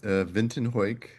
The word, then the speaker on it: Vinton Heuck: Um, my name is Vinton Ho. Um, it's a very unusual German last name that almost nobody can pronounce.